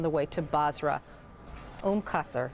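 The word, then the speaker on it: Qasr: And of course, that city on the way to Bazra, um Kaser is how you pronounce that.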